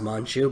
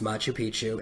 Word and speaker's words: Machu Picchu: I didn't look up how to spell it. I thought it was Manchu, but it's Machu Picchu in South America.